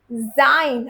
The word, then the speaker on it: sein: हसन जाइन। अगेन इ आई टुगेदर जाइन। ओके?